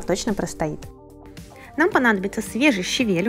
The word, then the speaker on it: щавель: только листья щавеля кстати по правилам русского языка ударение делается именно на второй слог правильно говорит щавель и ни в коем случае не щавель если вдруг вы мне